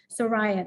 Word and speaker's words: Soraya: with uh queen zarya soraya that's how you say her name with an s um in the 1920s